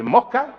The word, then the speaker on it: mosca: Siempre hay que aspirar la S.